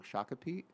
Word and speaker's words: Shakopee: Shakopee.